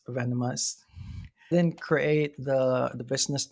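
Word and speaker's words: Venomhaus: under uh Venom house it's spelled like Venom v n o m but the house is h a u when you say it fast then it's like venomous venomous didn't create the the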